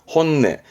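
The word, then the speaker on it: 本音: 말할 때 쓰는 단어인데 발음은 혼내 혼네 반말도 많이 씁니다 반대말은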